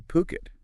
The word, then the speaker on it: Phuket: Today on the Deep Dive, we're venturing to Phuket. And just to be clear, that's P-O-O-K-E-T, pronounced Phuket, not Phuket, to explore this really intriguing intersection of sustainable living and luxury real estate investment.